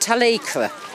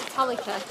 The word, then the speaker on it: Talacra: Apparently, in the local dialect, it's pronounced Talacra. I naturally say Talacra. We called it Talika.